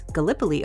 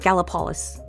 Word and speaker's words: Gallipolis: But Route 35 over the Ohio River, and it joined Point Pleasant, West Virginia to Gallipoli. I never can say that right. It's Gallipoli, Ohio, and not Gallipolis.